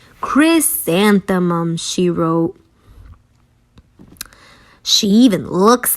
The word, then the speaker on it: Chrysanthemum: in the dirt say her name with me Chris Santa mum Chris Santa mum Chris Santa mum she wrote she even looks like a flower